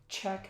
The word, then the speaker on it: Czech: Czech Republic remember Czech Republic the cze CH pronounced check Republic Poland Slovakia United Kingdom or we can